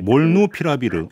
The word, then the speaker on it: 몰누피라비르: 머크사의 몰누피라비르 발음이 네, 몰누피라비르.